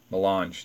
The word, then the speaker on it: Melange: Melange. I'm sorry. Melange. That's the proper pronunciation.